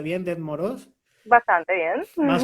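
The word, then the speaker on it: Дед Мороз: no, pero porque en la transliteración creo que han metido una T de más, que por algún motivo fonético estará allí, pero que dificulta que se pronuncie. Son Yetmaros y Snigurechka.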